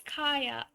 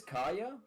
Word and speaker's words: Kaeya: now I can correct you. It's Kaya. Oh, it is Kaeya?